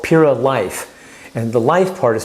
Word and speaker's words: Liyf: Now, the other probiotic that they have, the Pyradyme has, is called Pura Life. And the life part is spelled L-I-Y-F, life in your food, once again.